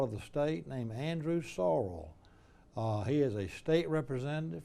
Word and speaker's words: Sorrell: be worth it and by the way we pronounce it sorrell sorrel is probably the right way a sorrel is a red horse but we say sorrell surreal now how does jeff from harvard say